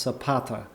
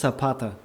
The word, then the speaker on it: Zapata: Zapata should be pronounced Zapata as far as I know this means Shu in Spanish but I might be wrong I don't know zata I think it's sapata Z is pronounced sa oh sapata okay so